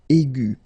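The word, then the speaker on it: aiguë: Okay, and then the feminine form will be aigu. So phonetically, it is exactly the same thing. Okay, but then you should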